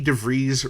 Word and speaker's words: DeVries: was hosted by Vicky DeVries Rhymes with Cheese.